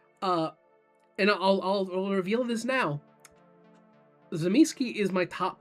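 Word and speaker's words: Tzimisce: He says Zimiski. There's a great video of asking White Wolf people at a convention how they pronounce it. If I get people correcting my pronunciation or telling me that it needs to be pronounced Zimishi, I'm going to lower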